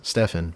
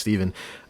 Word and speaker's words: Stephan: My name's Steven, spelled with a PH and an A. So you'd think, Steve, it was pronounced Stephan, but it's not. It's indeed pronounced Steven.